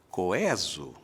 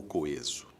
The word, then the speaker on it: coeso: fiz a pergunta porque nos dicionários antigos só se encontrava essa recomendação de pronúncia que parece estranha hoje coeso você vai dizer como é que isso aparecia nos dicionários aparecia a palavra e entre parênteses um e com acento agudo Porque de fato Essa é a pronúncia clássica erudita não sei o quê